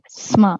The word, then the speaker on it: sma: Sma, it's not Sama, it's Sma.